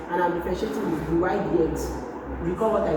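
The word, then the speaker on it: dy/dx: Now to differentiate they say differentiate this word they can say find dy dx find the y dx this is pronounced d y dx dy dx so I'm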